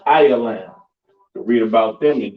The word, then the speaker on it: Elam: of that all right next we have Elam all right which is a so-called East Indians pronounced ayalam to read about them